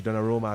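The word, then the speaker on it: Donnarumma: Meanwhile, Georgio Gio Gigi Donar Roma that's how he's pronounced better for us in this part of the world or isn't it?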